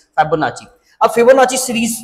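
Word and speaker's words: Fibonacci: ये इसको लोग फाइबोनाची भी पढ़ते हैं लेकिन एक्चुअली ये जो टर्म है इसकी जो प्रोनाउंसिएशन है दैट इज फाइबोनाची।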